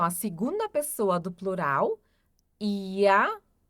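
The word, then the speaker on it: ihr: Ia ia. Aqui nós também fazemos a pronúncia como se tivesse um a no final.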